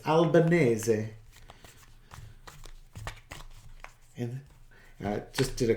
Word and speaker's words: Albanese: attention towards Australia and Anthony albaneze because that's how people would pronounce it it's Albanese and I just did